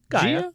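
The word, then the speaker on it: Gaea: for green Jia's anthem gia did you go there Gia Gaia Gaia remember guy his cradle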